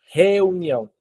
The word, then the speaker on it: reunião: Yeah, Ah, so the R in reunion is like a H. Reunião. yeah. Basically, this. Yeah, yeah, It sounds more like a yeah. H. Same sound. Yeah, Reunião.